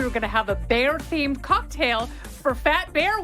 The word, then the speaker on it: Baier: told you we were going to have a bear themed cocktail for fat bear week but we